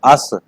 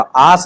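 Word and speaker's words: us: अस, copy पे लिखो इसको अस, जिस अक्षर को बोलो उसको लिखो, हिंदी में भी लिखो इसको अस। प्रोनाउंस इसका आस नहीं, अस। अब तेरी तो समस्या यही है कि ए, आ नहीं बनाना, ए बना खाली, एस, ए।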